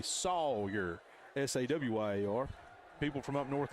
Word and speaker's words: Sawyer: Say it like you're from the South.